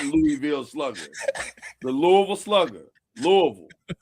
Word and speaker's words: Louisville: out to Sheldon Rankins from the University of Louisville. Louisville. There you go. Louisville. That's right. Louisville. That's right. Thank you, Byron. It's Louisville. Louisville. Shame on you. Shout out to everybody that calls it Louisville.